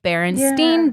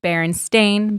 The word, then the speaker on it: Berenstain: as a child and i called them the berenstain bears and spelled with e-i-n but ben is right it is actually a-i-n they're actually the berenstain bears and this just